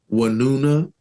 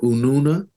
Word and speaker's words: Winona: The title has been anglicized to be Winona, right? But I think the Algonquin pronunciation would be more like Wanuna or Ununa, right?